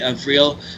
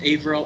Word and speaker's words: Avril: However, the character who is going to be taking the mantle of Quasar is actually Avril. Is that how you pronounce it? Avril? Avril. Avril, like Avril Lavigne.